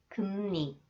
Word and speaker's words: 금리: 음료수, 심리학, 금리. 심리학을 전공하고 싶어요. 심리학을 전공하고 싶어요. And when 리을 comes after the final consonants 이응, it is pronounced 니은.